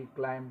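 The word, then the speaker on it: climb: टी एच यू एम बी थम, B silent हो गया। सी एल आई एम बी क्लाइम, क्लाइम माने चढ़ना।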